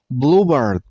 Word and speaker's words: Bluebird: Bluebird. Stress on the first syllable. I mean on blue sound.